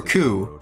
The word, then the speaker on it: coup: started a coup right is it pronounced cooper coo 3k plan in our favor how'd you do that i always thought it's cool steps to implement first because french why did daigo pronounce it with the p he definitely pronounced that p g you can clip